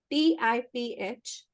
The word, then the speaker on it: Tiferet: is actually the sun, which is called Tiferet. TIPHERET. Repeat. TIPHERET. ठीक है? टिफर ET. TIPHERET. मतलब basically टिफरत बोलते हैं इसको. Tiferet is beauty and harmony.